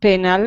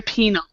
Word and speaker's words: penal: I said penal, but I don't know how to say that. It's actually penal. Is what it is.